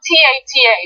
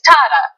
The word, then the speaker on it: Tata: His name is spelled T-A-T-A. It's Tata.